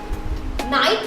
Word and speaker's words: knight: हम कहते हैं ना I don't know, उसकी स्पेलिंग क्या होती है? KNOW, क्या उसमें K साउंड करता है? नाइट राइडर्स KNIGHT, क्या उसमें K साउंड करता है?